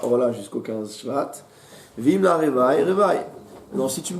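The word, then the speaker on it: רבעי: Revaï. On dit Revaï, mais la prononciation, on va dire, la prononciation classique, c'est bien d'état Revaï.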